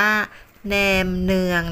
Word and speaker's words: แหนมเนือง: ปาก นั้น นะ คะ แท้ จริง แล้ว ออก เสียง ว่า แหนม เนือง นะ คะ ตาม ภาษา เวียดนาม ที่ หมาย ถึง เมี่ยง